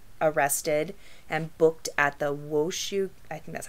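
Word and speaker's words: Washoe: sparks nevada was arrested and booked at the wooshu i think that's how you say it washu county jail on charges of murder first degree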